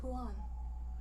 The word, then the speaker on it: Huan: His name is Huan. Nice to meet you, Juan.